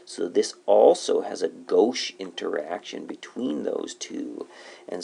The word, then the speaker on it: gauche: this kind of a weird word we call it go that's how we pronounce it this is 60°